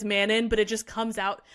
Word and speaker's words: Manon: It's because her name is spelled M-A-N-O-N. In the pronunciation guide, M-A-N is all capitalized, and then it's dash O-N. Yeah, so Manon.